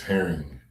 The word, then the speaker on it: Herring: And my last name is Herring like the fish.